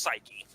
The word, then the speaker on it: Psyche: so the greek god the greek goddess is pronounced psyche okay so psyche 16 is an asteroid that right now um